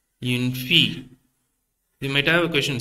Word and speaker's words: fille: Une fille. You might have a question, sir. When you spell it, you are telling the L, but when you pronounce it, you are omitting the L.